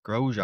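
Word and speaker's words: Grosjean: It was just announced that Roman Groer I can't never pronounce that last name. Grojan.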